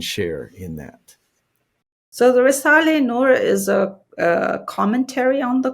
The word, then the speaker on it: Risale-i Nur: then you mention, I don't know how to pronounce it, Risale-i Nur. Yes, very good. Yeah, Risale-i Nur.